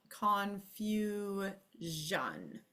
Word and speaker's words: confusion: conf which means that this is going to vibrate Jan confu Jan okay so that sound